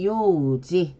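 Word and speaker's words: 幼児: 자, 유아, 유충 바로 어릴 유자를 쓰고 일본어 발음을 보겠습니다. 유아는 요우지, 유충은 요추로 읽어줍니다.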